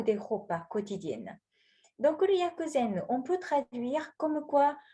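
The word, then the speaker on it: 薬膳: Le premier lettre, ça se prononce Yaku et qui signifie le médicament. Le deuxième caractère qui prononce Zen.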